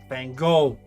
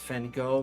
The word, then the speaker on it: Van Gogh: a game of Go, so proper now pronunciation is Van Gogh, by the way, not Van Gogh, but everybody says Van Gogh.